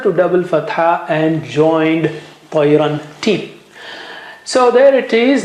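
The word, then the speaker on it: طيرا: Now the word has become tayran, because it was tayra, and you join noon sakin there, tayran, but this noon sakin is sitting on the top of the fatha there.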